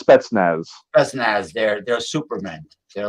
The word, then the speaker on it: Spetsnaz: he was uh a speznac soviet special forces uh i i know i'm not pronouncing it properly yeah it's spetsnaz that's they're they're superman